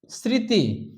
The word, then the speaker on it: স্মৃতি: নিজের রূপে বহাল থাকছে অনুনাসিক শ্মশান আমরা উচ্চারণ করি শ্মশান আরো উদাহরণ হচ্ছে স্মৃতি আমরা উচ্চারণ করি স্মৃতি সারক আমরা উচ্চারণ সারক